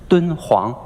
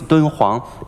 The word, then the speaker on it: Dunhuang: DH, that's the short for the Chinese pronunciation, Dun Huang, Di, Dun Huang, H.